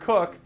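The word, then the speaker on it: Coke: picture of Mr uh sir Edward pronounced cook as they let you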